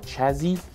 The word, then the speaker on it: chassis: the upper plate on the Chassy uh or Chazzy as some people like to say it um it is what